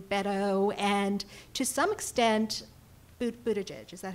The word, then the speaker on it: Buttigieg: And it's interesting, people talk about them, the bees, you know, Bernie, Biden, Beto, and to some extent, Buttigieg, is that how you say it?